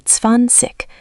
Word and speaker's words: zwanzig: Spelling has zwei and pronunciation is usually zwanzig with a soft ending. Zwanzig. Good. Focus on starting with ts, zwanzig.